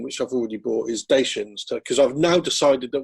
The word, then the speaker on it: Dacia: So definitely the car company pronounced itself Dacia, and that's from Romania.